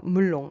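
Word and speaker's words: 멜론: Attention, il faut bien prononcer chaque lettre L. Donc il faut prononcer la lettre L 2 fois. Une fois avec la première syllabe et une nouvelle fois avec la deuxième syllabe. Après ici, à la deuxième syllabe, vous voyez ici la voyelle est couchée. Cela signifie qu'il faut bien fermer la bouche. Parce que cette voyelle O se prononce avec la bouche fermée.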